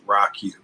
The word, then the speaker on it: ROCU: a nice little acronym you pronounce the rocu as rocky that's the proper pronunciation but we persevered now